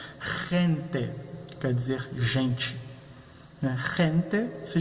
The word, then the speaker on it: gente: Assim nós pronunciaremos gente, quer dizer gente.